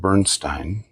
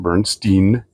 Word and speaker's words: Bernstein: last name it's not Bernstein I was told when you see that name think of the piano brand Steinway and that's the way it's pronounced but he wrote a